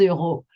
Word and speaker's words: euro: Bien, 15 euros.